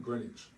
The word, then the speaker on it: Greenwich: And that's without a W. The W is silent. Greenwich.